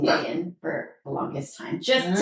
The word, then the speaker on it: Nguyen: Like in the proper Vietnamese Yeah. way, it's Nguyen. And then how did it become the way that like People you know Nguyen.